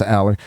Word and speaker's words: Allar: I know it's pronounced Aller.